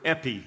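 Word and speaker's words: ἐπί: is a is a a Greek word Epi e p i pronounced e p e EPI and it's actually an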